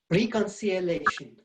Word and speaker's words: reconciliation: every other syllable but we don't need to say the re it's just wreck so but it will be wreck we'll be stressed somewhat reconciliation reconciliation reconciliation more